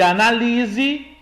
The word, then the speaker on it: analise: Vinícius, mas os dois só se diferem pela presença do acento agudo na sílaba A. Melhor dizendo. Olha, na primeira frase nós temos análise. Análise é um substantivo e analise é um verbo.